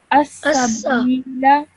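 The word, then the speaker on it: السبيلا: Okay, so this ya over here again is a ya madda because the letter before it has a kasra. So you elongate this bit, but with this sin you only keep it for 1 second because it has a simple fatha.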